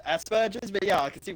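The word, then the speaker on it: Asperger's: autism yes as do I as do I Asbergers I know I know it's pronounced Aspergers but yeah I can see why some people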